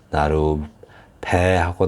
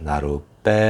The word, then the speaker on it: 나룻배: 된소리로 나는 경우가 있습니다 암말 끝이 나루죠 나루 이렇게 나루인데 해서 된 소리가나요 이렇게 나로 배하고 나는게 아니라 나룻배 하고 나죠 이렇게 또 뭐죠 뭐